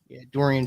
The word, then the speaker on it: Dorian: jalen brunson reggie bullock duron the ron finney smith i think that's how you say it yeah yeah yeah i need dorian finney smith yeah and their last